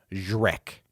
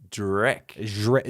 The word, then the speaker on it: Zrek: The aliens are searching for the stranded extraterrestrial named Zrek. Drek. Z-R-E-K.